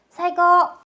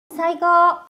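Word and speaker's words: 最高: 사이코으라고 적혀 있지만 그렇게 하지 않고 끌어줍니다. 갈게요. 사고. 사거.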